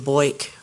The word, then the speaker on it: Boik: His father and I liked racing, and AJ Foyt was big, so Alexander Jonathan AJ, last name Boik, rhymes with Foyt. Sort of.